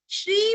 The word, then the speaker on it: श्री: श्री परमात्मने नमः, श्री का भी उच्चारण हमें अच्छे से करना है, श्री नहीं करना, दीर्घ श्री करना है।